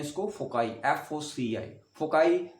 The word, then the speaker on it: foci: फोकाई मतलब कोई इसको फोसाई बोलता है, कोई इसको फोकाई बोलता है, राइट। आपको जो प्रोनाउंसिएशन, अमेरिकन में इसको फोसाई बोलते हैं या फोकाई बोलते हैं, कोई इसको फोकी बोलता है, कोई इसको फोसी बोलता है, राइट। लेकिन अमेरिकन लैंग्वेज में इसको बोलते हैं फोकाई, राइट।